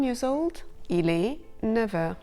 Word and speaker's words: neuf heures: But there are a couple of cases when the F of 9 is pronounced V, a V. Il a 9 ans. He's 9 years old. Il est 9 heures.